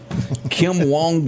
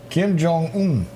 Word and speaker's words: Kim Jong: scared of a guy named Trump yeah yeah Kim Wong how do you say it Kim Jong there you go they didn't teach that in